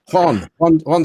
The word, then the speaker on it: Juan: Juan Suarez. That's correct. Yeah. Hi, everybody. Good to see you, Juan.